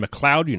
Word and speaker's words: McLeod: And McLeod, from Gavin McLeod.